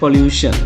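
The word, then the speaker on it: pollution: பொல்யூஷன் அப்ப இங்க வந்துடிஐஓ தான் ஷன் என்ற ப்ரனன்சியேஷன கொண்டுருது.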